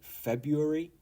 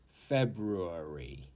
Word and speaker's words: February: be honest uh some British people do say February and maybe I do too oops and it's fine for this one uh you can say February however the traditional pronunciation is February February February bit of a mouthful and you